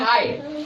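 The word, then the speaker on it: high: पढ़ तो रहे हैं हाय तो इसमें कौन सा लेटर साइलेंट है जी एच के उच्चारण नहीं कर रहे है इसका अर्थ हुआ वो यहां साइलेंट है तो यहीं तक पढ़ रहे हैं हाई ठीक है तो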